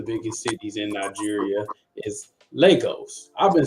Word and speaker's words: Lagos: I just found out that the way you pronounce her city which is one of the biggest cities in Nigeria is Legos I've been saying for the whole time losos which is crazy it's crazy so welcome shimmy